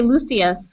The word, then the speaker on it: Lucius: You could say Lucius, or you could say Lucius, which is the British way. Yeah, no, Lucius.